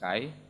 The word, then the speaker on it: Kayes: And they are originating from the southwestern Mali, the region of Kai. Well, they write it Kayes, but it's pronounced Kai.